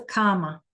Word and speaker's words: cama: Yeah, it's not a comma like a comma, right? It's a bed. But we pronounce it like comma.